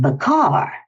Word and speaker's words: Baker: Maybe that's because they pronounced her name Baker. I remember everyone in in Montreal called her Josephine Bar. They said it was the pronunciation she preferred.